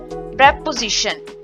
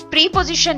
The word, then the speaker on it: preposition: SI की, then शन, प्रेपोजिशन। इस तरह करके जो है बोला जाता है। तो प्रेपोजिशन में प्रीपोजिशन नहीं है, प्रेपोजिशन इज the correct प्रोनाउंसिएशन।